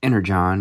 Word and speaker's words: Energon: Energon universe.